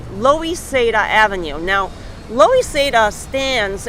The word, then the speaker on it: Loisaida: for Lower East Side like a Spanglish like a you know of uh Spanish for Lower East Side when you say it real fast loisada low east side loisada yeah Spanish pronunciation so Avenues a b